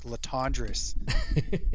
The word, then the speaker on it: Latendresse: It's for those of you that want to know, it's Latendresse. It's not one of those easy names to remember like Smith or Jones.